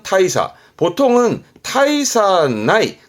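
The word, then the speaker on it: 大差: 대차, 발음은 타이사. 대차라 함은 큰 차이, 발음은 타이사.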